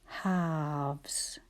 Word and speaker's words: halves: And we still can't hear that L. Halves.